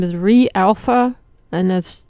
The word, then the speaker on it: reAlpha: And if you want to check it out, so the company's name is reAlpha. And that's, you spell it just like you say it, R-E, and then the alpha.